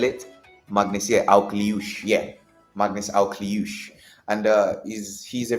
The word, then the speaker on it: Akliouche: it so I've learned it is um Magnus Alouch. Yeah, Magnus. I think I know how to spell it. Magnusier Alush. Yeah, Magnus Alouch.